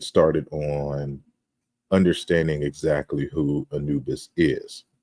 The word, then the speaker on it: Anubis: So toward an etymology of the god Anpu, and that's how we transliterate it in, I guess, modern Egyptology, but the Greeks pronounce the name as Anubis, right?